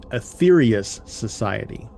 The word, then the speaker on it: Aetherius Society: All right, next up we have the Aetherius Society. And it's spelled Aetherius, so it's like the old spelling of ether.